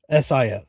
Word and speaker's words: Sif: So Teresa Palmer might play Sif. SIF.